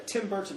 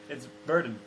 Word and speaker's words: Burton: It is with a T, but you don't pronounce the T. Burton. No, you don't say Burton. Okay. It's Burton.